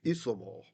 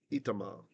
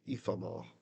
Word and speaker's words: Ithamar: So it would have been Isamar instead of Itamar, but we will say the ancient Ithamar, right? Just because it's a name, I think names should be preserved if we can.